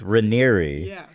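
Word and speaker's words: Raniere: documentaries is that Keith Rainier is was like a very good I don't care yeah apparently I've been saying it wrong Keith Ranieri was a incredible speaker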